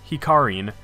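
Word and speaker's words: ヒカリン: version she calls don hikarin which is her japanese name hikari only with an n sound at the end in japanese adding an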